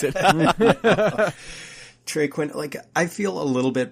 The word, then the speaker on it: Trey Quinn: I thought you were saying Traquan. I was like, dude, that's not how you pronounce it. Trey Quinn, I feel a little bit better about these Washington receivers with Colt McCoy in there.